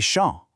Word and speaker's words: champs: Il y a des champs. Did you notice the silent P and S at the end there? And for lakes, it's your turn.